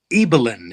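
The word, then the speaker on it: Ibelin: list is called the remarkable life of eellen eelin it's pronounced yeah eelin it's it's Norwegian yeah um yeah the remarkable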